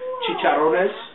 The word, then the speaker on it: Chicharrones: First off, I would like to correct the pronunciation of my actual team name. Is Chicharrones, for my loyal fans out there.